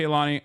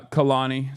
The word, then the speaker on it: Khalani: Anyway, but yeah, shouts out to Kaani. Uh Khalani, sorry that's how you say her name. I apologize. I was saying it wrong.